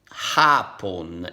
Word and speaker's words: hapon: Hapon. In this case, you don't pronounce the H.